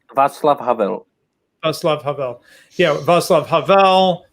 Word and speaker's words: Václav Havel: Václav Havel? Václav Havel.